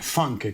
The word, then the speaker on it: Funk: Toi, tu dois être un des rares qui sait le secret derrière mon famille, là, on le prononce funk, mais...